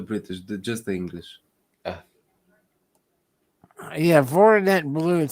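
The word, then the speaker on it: Voroneț: Voronezh. Voronet. Okay. and you must roll the tongue.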